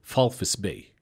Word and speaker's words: Walvis Bay: I said it, but the V is an F. So it's Walvis Bay is how you say it, is how it's supposed to be said, you know.